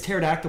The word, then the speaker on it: pterodactyl: It's pterodactyl, but it's spelled with a P.